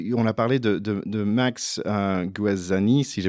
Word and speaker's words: Guazzini: Tiens, je voulais un peu boucler, mais il y a une idée on a parlé de Max Guazzini, si je prononce bien. Guazzini, oui.